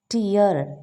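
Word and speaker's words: tear: watching സ്പീക്കി ആദ്യത്തെ വാക്ക് ടി ഇ എ ആർ ടിയർ കണ്ണുനീർ ടയർ കീറുക so same വാക്കാണ് എന്നാൽ ഇവിടെ വ്യത്യസ്ത ഉച്ചാരണമാണ് കാരണം ഒന്ന് നൗണും മറ്റേത് വെർബുമാണ് ഹെർ ഐസ് ഫിൽഡ് വിത്ത്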